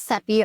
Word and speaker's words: Sepy: My name is Sepy Rhymes with Pepe and I'm your host.